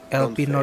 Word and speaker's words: Elpenor: Eh, bacanya Elpinor benar.